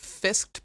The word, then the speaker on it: fsckd: I'm one of the hosts of Fisked Pod.